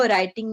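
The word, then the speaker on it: writing: हो गया शब्बीर व राइटिंग में डब्लू जो है वह साइलेंट होता है लेकिन पड़ा अब वह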